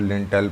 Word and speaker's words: लिंटल: जाते हैं, फिर उसमें लिंटेल पड़ता है, लिंटर जिसे कहते हैं, वो लिंटल उसका एग्जैक्ट प्रोनाउंसिएशन होता है, लिंटल होता है।